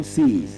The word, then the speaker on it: says: sees the governor says no just like you want to pronounce s e zed says don't get it twisted that's the proper pronunciation and the right word.